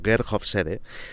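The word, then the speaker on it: Hofstede: de los asuntos vuestro vamos a escribir como get off sede y vamos a pronunciar como kerkhof said trabajaba para el departamento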